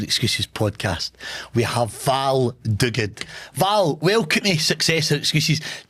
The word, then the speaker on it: Duguid: On today's Successor Excuses podcast, we have Val Dug.